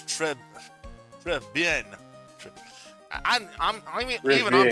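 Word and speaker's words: Très Bien: According to Google, it says it's pronounced as Trebien. Yeah, with a short, slight guttural R, a short E sound, and a nasal N at the end for bien. So Tribien. the R in Trey is not a hard Spanish R, but a softer French R, and the final N is nasal.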